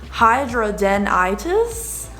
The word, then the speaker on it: hidradenitis: that this sucks um but to pronounce the pronunciation is hydra denitis super uh tiva i have a little thing